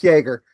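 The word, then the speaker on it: Jaeger: It's pronounced Jagger.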